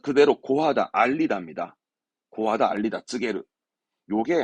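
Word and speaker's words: 告げる: 고하다, 알리다, 쯔게루.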